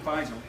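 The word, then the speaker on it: Faisal: King fisel I think I think I got his name wrong in one of my broadcast but it's king fisel and we said to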